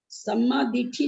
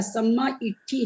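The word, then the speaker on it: सम्माइट्ठी: सम्मा दिठी नहीं है भैया, सम्मा इट्ठी है।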